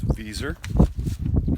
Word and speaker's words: Viser: stand it sometimes uh correct way to say my last name is viser with an S but it sounds like a z bom Farms b o